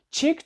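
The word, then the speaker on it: chick: само cке або к чик - Це маленька курка ку курча ось курча так ось чик в кінці має CK І це просто к P та H Ці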